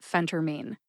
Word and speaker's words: phentermine: together and you get Phentermine emphasize the first syllable which is Fen see if you can